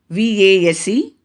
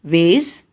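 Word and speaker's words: vase: address the third example v-a-s-e american pronunciation is ways whereas british pronunciation is vas fourth word v-i-t-a-m-i-n american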